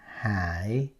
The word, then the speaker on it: Hải: So Nguyen Quốc Hải. Now Quốc Hải, Quốc, Quốc, Quốc, and then Hải, H-A-I. Now A-I, hờ ai hai hỏi Hải.